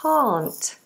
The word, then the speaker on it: can't: a, short vowel, can, and then I can't, completely different vowel, ah, open, long, ah vowel.